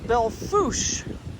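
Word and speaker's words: Belle Fourche: We're in Belle Fouche, South Dakota. That's how they say it here.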